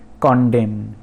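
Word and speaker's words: condemn: फिर कॉन्डेम, कॉन्डेम in last का जो एन है वो साइलेंट है।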